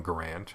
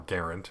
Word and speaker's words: Garand: product improved version of the m1 garand or garand more properly pronounced but we had the